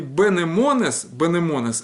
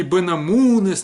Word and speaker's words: бенемонес: Так вот, билик или билик это тоже дешево переводится как кой же билик бенемонес дешево, и бенемонес это не бенамунес никакой, бенемонес, вот так вот произносится, это очень важно, это, чтобы не было